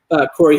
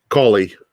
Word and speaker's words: Coley: I forget how you pronounce his last name. Corey who? Coley.